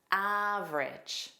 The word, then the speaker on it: average: Well, you don't hear that middle vowel again. You hear two sounds. A is a stress sound and then ridge. So that a g e is pronounced as. So that's why you hear ridge.